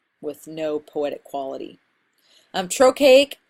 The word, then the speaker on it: trochaic: no poetic quality i'm trochaic is the opposite of iambic trochaic is when stress is on the first syllable of a foot I am BIC is